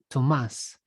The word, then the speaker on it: Tomas: Thomas with no H because my name comes from Spanish and it's actually pronounced Tomas, but irrespective.